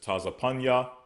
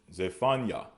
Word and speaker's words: Zephaniah: Next, we have Zephaniah, which we pronounce as Tazapanya. All right. Tazapanya. They pronounce as Zephaniah.